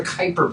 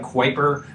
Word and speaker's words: Kuiper: this thing called the kuiper belt and it it rhymes with viper but it's you know spelled kuiper um and that was